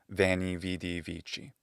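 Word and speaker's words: veni vidi vici: Often they've heard it first in that ecclesiastical pronunciation, vany vid vichi. It sounds absolutely cool, just like everything in ecclesiastical pronunciation. And then they go, it's not going to be wy weedy winky.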